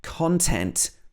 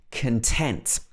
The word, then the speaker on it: content: string around a bobbin content and content again almost the same but different stress so content means the what is inside something or the information inside for example i haven't read the contents of the letter yay we could also say the content of the letter that means what's written inside this is a noun content we stress the con part of the word but if we say